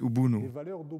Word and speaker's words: Ubuntu: In unserer Sprache Kirundi spricht man das T nicht aus. Man sagt Ubuntu.